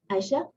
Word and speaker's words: Aicha: Welcome, Aicha. Am I pronouncing your name correctly?